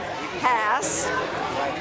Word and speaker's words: Hass: Rhymes with pass, Hass, and because they know that